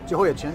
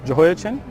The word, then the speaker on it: Jehoiachin: And I'll let you pronounce them for me. Jehoiachin, is that correct? Jehoiachin, yeah. Jehoiachin.